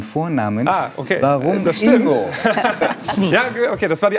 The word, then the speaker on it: Ingo: Nee, eine Nonna sagt ja immer Ingo, vieni qua. Ja, also die Betonung und vorne.